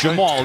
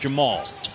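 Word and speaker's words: Jemarl: Yes, it's Jamal, even though there's an R and an L at the end of his name. It is pronounced Jamal.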